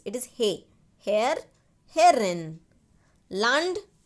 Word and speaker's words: Land: Land. La. La sound. Okay. Land. Don't say land. It will become English and it means the place.